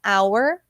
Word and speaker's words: hour: A gente fala o H, a gente, na verdade, ele não é pronunciado, tá? Então é hour e herb.